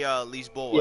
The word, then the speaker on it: Lisboa: In Portugal, they actually say Lisboa instead of Lisbon. That's like the English pronunciation.